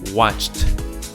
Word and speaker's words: watched: That's right, it's watched.